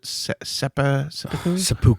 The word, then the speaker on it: seppuku: How do you say the seppuku?